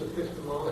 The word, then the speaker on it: epistemology: Okay, and it's Introduction to Epistemology. No, it's epistemology. Epistemology.